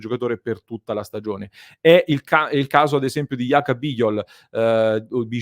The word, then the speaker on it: Bijol: This is the case, for example, with Yaka Bighol, Bighol should be the correct pronunciation, class 99 defender of Udinese who is also doing very well at the European with Slovenia.